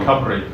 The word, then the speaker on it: Cymru: Should it be running, and I don't want to say the Welsh name for .Wales, because you know how to pronounce it. Cymru.